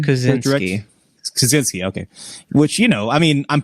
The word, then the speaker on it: Kosinski: Is that how you pronounce his name? Joseph Kosinski. Kosinski, okay.